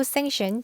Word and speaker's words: sanction: sanction 하게 되면 저거 C가 묵음이에요. sanction 하지 마시고 sanction 제재를 가하다.